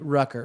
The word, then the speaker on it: Rucker: Darius some weird name Rucker rhymes with trucker country people understand that